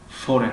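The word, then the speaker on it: foreign: خب کلمه فورین در اینجا نیز حرفی جی تلفظ نمی شود، به خاطری که در بین حرفی آی و ان آمدگی است.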